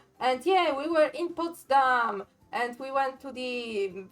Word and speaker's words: Potsdam: Dam potam po no poam is the Polish pronunciation poam would be the German pronun the German one and yeah we were in Potsdam and we went to the most important Park